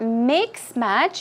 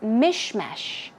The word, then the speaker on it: mishmash: Remember, it's not mix match, it's mishmash.